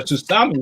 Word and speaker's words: tsunami: But a tsunami is just like a giant wave, isn't it? Why are you pronouncing it Tsunami.